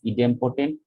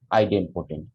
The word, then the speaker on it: idempotent: that is called the idempotent or idiom protein sometimes pronounced as idiom potent sometime pronounced as idempotent i am at that